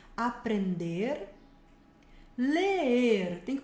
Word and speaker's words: aprender: Olha só, temos aqui comer, que a gente já viu, beber, aprender, termina bem o verbo no final, levantando a língua para marcar o R, aprender, ler, tem que pronunciar